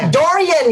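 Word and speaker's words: durian: it's from the Philippines Dorian yeah you pronounce it just like my little boy they're so slang I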